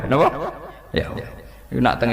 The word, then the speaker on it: Yahweh: Iku nak teng ejaan Latin Y besar, A H besar, W E H besar, Yahweh. Lah Yahweh nak sampean maca ya Allah mbok imalahno iku ya wis napa? Yahweh sama.